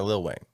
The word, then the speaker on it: Lil Wayne: little wayne is it is it lil lil wayne or lil wayne lil lil it's not little no lil no way